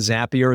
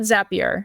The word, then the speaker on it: Zapier: I call it Zapier. Some people say Zapier, but I call it Zapier. Yeah. Okay, like it's Zap, right?